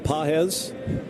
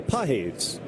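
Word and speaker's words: Pagés: we were calling him Pages. John Rooney, our pregame guest in the On Deck Show today, corrected us. He is now going by Pages. Spelled like the American word pages.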